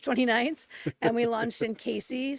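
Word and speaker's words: Cayce: And we launched in Casey, South Carolina. It's spelled C A Y CE.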